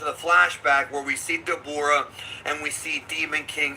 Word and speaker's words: Dabura: You know, people say Dabura because that's kind of like the Funimation pronunciation, but it's supposed to be Dabura. That's how they pronounce it in Japanese.